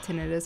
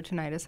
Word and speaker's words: tinnitus: very common to have tinnitus or tinnitus however you want to say it right associated with it